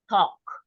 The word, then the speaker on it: talk: this combination for example talk you know okay talk we don't say tall we don't pronounce the L neither right and Poco so